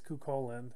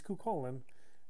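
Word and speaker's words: Cúchulainn: i was a kid i always pronounced that his name quickly but his name is cu colin it's just a poor translation poor uh typography of his name but he's kukolin uh which is the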